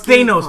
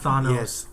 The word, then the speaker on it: Thanos: Thanos. No. Sorry, I'm tainted with... I have family. Tantos. That food Tantos? It's Thanos, by the way, not Thanos.